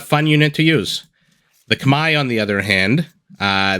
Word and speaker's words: Khmer: Vivi spawning in the east as the red Khmer or as it's actually pronounced Kamai let's take a look at the civilizations while